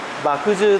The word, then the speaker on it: 麦汁: れども、麦汁と麦の汁と書いて麦汁っていうんですが、